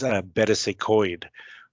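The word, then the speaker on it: Betws-y-Coed: From there, we make a visit to a very beautiful countryside location in Wales, and that is Betws y Coed, which is, that's how you pronounce.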